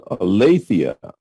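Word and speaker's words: ἀλήθεια: Voice or sound hallelufia olathea the accent is on the Ada olathia truths har martía Amatea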